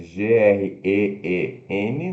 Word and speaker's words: green: Verde se escreve G-R-E-E-N, né? O duplo E, green, né? Mas se pronuncia G, o G, R e longo N, green, green.